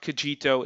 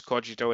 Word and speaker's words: Kogito: so first about cogito about the name it's pronounced kojito it's not kijito it's not kojito it's it's cogito and it comes from a latin phrase cogito